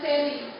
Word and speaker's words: seri: Seri yang pelafalannya dipepet pada fonem E-nya itu mengatakan cahaya. Misalnya pada kalimat pada ruangan itu cahayanya berseri-seri. Itu pada kata E-nya pelafalannya dipepet. Sementara pada kata seri yang kedua itu pelafalan huruf E-nya lebih terang.